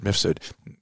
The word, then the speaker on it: Mifsud: She worked for the president of the EU, president of the European Union, and had some interaction with Misfood. How do you pronounce the name? Mifsud.